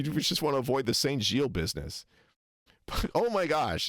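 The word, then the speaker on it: Saint-Gilles: So, he says Saint Gilles, but that's not how you say it in French. It's Saint Gilles. It's the e na- the e n nasal, not the o n nasal. It's the wrong nasal vowel.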